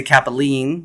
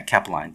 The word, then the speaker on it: Cappeline: People want to say Kapalene, which I understand. It sounds very Italian. Um, but yeah, Kapaline. Thank you.